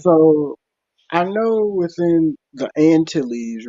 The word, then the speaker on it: Antilles: Actually, in French, we call it Antilles. When you have the double L, it's pronounced like a Y.